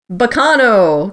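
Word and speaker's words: Baccano!: My number 2, and I'm gonna pronounce this funny, but on purpose, Baccano, because that's how you'd actually say that word in Italian.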